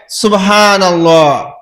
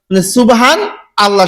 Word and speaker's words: সুবহানাল্লাহ: অনেককেই জিজ্ঞাসা করেছি বলে সুবহানাল্লাহ সুবহানাল্লাহ সুবহানাল্লাহ সুবহানাল্লাহ সুবহান আল্লাহ শোনা যায় ও বলে সুবহান হান বলে হান তারপরে আল্লাহ সুবহান আল্লাহ কিন্তু আসলে শব্দটা হচ্ছে এরকম উচ্চারণ সুবহানাল্লাহ কি উচ্চারণ হবে সুবহা না মনের কাছে বিষয়টি